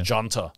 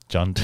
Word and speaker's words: Junta: And it's spelled with a J. It's actually Junta. Junta. I hear a lot of Australians say, oh, you know, what were you people doing during the Junta?